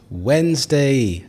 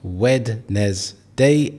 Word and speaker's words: Wednesday: There are 2 syllables here.